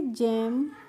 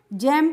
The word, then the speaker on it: jamb: अब देखिए JAMB है तो हम इसको क्या पढ़ेंगे, इसको हम पढ़ेंगे जैम। जैम्ब नहीं पढ़ेंगे, क्या पढ़ेंगे, जैम पढ़ेंगे।